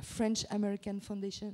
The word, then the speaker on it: French American Foundation: maladie d'Alzheimer, et également sur la fondation, la French American Foundation, c'est comme ça qu'on prononce.